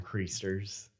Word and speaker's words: creaster: And Easter, like the term creasters. I'm sorry, did you say creasters? Creasters. What's a creaster? I'm sorry. Creaster. What's a creaster? Someone which rhymes with preacher.